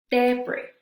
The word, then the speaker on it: debris: Entonces es aisle, aisle, debris, debris. Entonces esta quedamos que la S final no se va a pronunciar y se dice alcanza, alcanza.